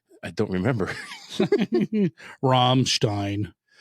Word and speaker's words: Ramstein: Ramstein. Uh, okay. So, the Stein and Stein. So, if it's I E, you pronounce the E sound. If it's EI, you pronounce the I sound.